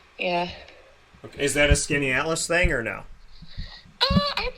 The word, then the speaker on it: Skaneateles: Is that a Skinny Atlas thing, or no?